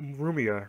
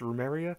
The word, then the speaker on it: Rumia: We also learned a little bit more about Rumia or Rumeria. I can never pronounce her name correctly. It's Rumeria.